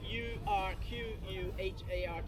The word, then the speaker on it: Urquhart: It's spelled Urquhart. So Urquhart. QU spells cut, or Urquhart.